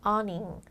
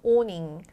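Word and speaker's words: awning: 이렇게 부르죠 근데 저게요 발음이 딱 보면은 아우밍처럼 생겼잖아요 미국 발음으로는 어닝 어닝이라고 하고요 영국 발음으로는 오닝 오닝이라고 발음합니다 그래서 저런 우리 이렇게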